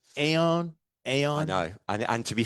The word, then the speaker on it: Aon: So it's pronounced Oon. So it's like a sort of a Scotsman saying one in French. So that's how you. It's AON. Oon. Oon. I would be like Aeon.